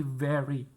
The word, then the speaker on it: very: sangat cantik Nah very eh sebetulnya bacanya bukan very tapi very nah very good terus Selain